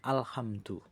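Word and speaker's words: الحمد: Alhamdu tanpa dengung tanpa ditahan di sini. Alhamdu.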